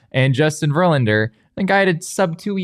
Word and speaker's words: Verlander: No, you're just like overemphasizing all of the wrong syllables right now. Verlander, that's it.